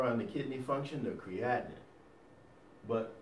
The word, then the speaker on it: creatinine: All right, so anyway, creatinine. Sounds like the word what? Creation.